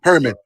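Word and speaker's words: Ehrman: Say it correctly. Yeah. Herman. Yeah. Herman. Did he confirm his age is silent?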